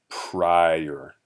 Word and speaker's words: prior: So this I says what we call its long sound, or like its name in the English alphabet.